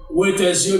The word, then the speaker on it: Reuters: Par contre, si je bien prononcé moi, journaliste Reuters, R-E-U-T-E-R-S.